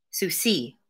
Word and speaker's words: Souci: Souci. Pronounced Sue as if taking someone to court, with an accent on the C.